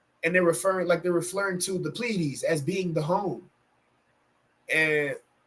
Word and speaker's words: Pleiades: How do you pronounce this? Pleiades.